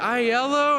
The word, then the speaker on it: iello: we were taking bets on how you guys pronounced the name of the company and I was there like is it ILO and I was like well everything's yellow are